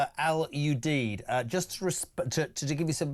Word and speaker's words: Al Udeid: The airbase in Qatar is pronounced Al Udeid.